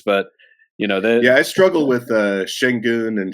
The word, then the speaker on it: Şengün: But I struggle with Şengün and Şaric. My brain just doesn't want to make an S sound like an SH.